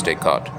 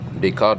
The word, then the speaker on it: Descartes: So anyhow, so when I first read this book written by René Descartes, now it's a French name, so it's spelled Descartes, Descartes, but I think the French pronunciation is Descartes.